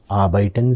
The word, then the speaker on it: arbeiten: So they may just ask you, arbeiten Sie? Arbeiten Sie? When I am saying arbeiten, observe, the R letter is very faintly pronounced.